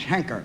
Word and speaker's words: Heinker: By the way, I believe my name is Henker. H-E-N-K-E-R, Henker. You pronounce it Henker? Well, that's what they call me, Henker.